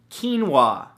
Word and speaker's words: quinoa: beautiful thing number two quinoa spelled ke en wuah no that's not how it's spelt at all but it should right